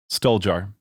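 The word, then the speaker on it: Stoljar: Daniel how do you say his last name Soldier oh beautiful yes um so how did this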